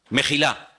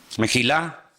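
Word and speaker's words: מחילה: ahí, mejilá y majalé, en hebreo se escriben sin vocales. Se escribiría una M, una J y una L, porque no hay vocales en hebreo. Es decir, que la misma palabra se puede leer como mejilá o se puede leer como majalé.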